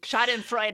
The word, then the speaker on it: schadenfreude: Schadenfreude.